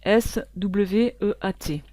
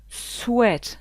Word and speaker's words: sweat: gros piège pour ce vêtement ici ce vêtement s'écrit comme ceci s W E A T et ça cela se prononce S sweat sweat ça veut dire transpiration ce vêtement a